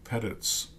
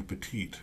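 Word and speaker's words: Pettitte: uh he you know he never could get Andy pettit's name correct uh he always called him Andy Petite so even Ernie was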